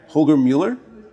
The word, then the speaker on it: Holger Mueller: So with me today, I've got Holger Mueller. Am I pronouncing that right, Holger?